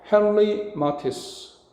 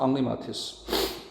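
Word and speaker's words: Henri Matisse: 헨리 마티스. 자, 프랑스 사람이다 사실은 헨리가 아니라 앙리라고 읽는게 맞습니다. 앙리마티스.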